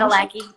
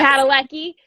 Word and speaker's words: Padalecki: Jared Padalecki. Yep. Padalecki.